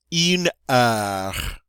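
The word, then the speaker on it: heure: next one you know in uh alright the H is silent alright don't get to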